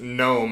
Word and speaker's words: gnome: play on words because the g is silent it sounds like they just like put it in like a a poster generator like in a computer like it just randomly matched gnome into something that started